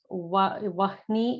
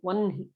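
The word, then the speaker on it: वह्नि: Vahni is what it is written as if you're reading it in English, but it should be pronounced as Vanhi.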